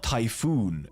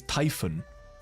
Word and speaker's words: Typhon: say C right but still say Typhon because that's what her name is it's not typhoon it's Typhon the people saying typhoon are wrong it's Typhon it's it's